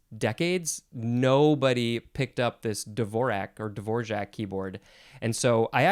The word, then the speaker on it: Dvorak: And I always heard it pronounced Dvorak with like a GJ sound in the middle, but I think that might be the more the more non-English way to pronounce it.